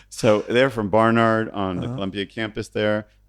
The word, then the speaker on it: Barnard: They're from Barnard. And we were talking about all the I would pronounce that Bernard. Yeah, so you do have a problem, right? So they're from Barnard on the Columbia campus there.